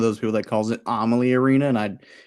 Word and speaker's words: Amalie: don't know the Lightning, they'll call it Amalie. It's like, come on, man, it's Amalie.